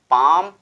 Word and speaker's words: palm: और एसेंशियल भी हमारा एग्जांपल था कि जब भी किसी भी वर्ड के लास्ट में यल यम का यूज किया जाए, यल यम का यूज किया जाए तो यल साइलेंट हो जाता है, यल का लोप हो जाता है, केवल यम को पढ़ा जाता है ना कि यल को।